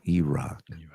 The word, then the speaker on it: E-Rock: It's not Eric. It's E-Rock.